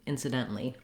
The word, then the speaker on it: incidentally: sub um and then as we mentioned we have a couple of different options here at the end for the a-l-l-y either ali or just lee incidentally once you can say